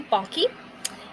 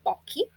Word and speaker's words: Balke: Hello, my name is Balke, and everybody always mispronounces my last name. They call me Blake or Balk. It's actually Balke.